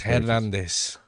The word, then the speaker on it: Hernandez: Jackie Hernandez had some shitty It's Hernandez. You white. mispronounce it. It's Hernandez. I don't speak Latino.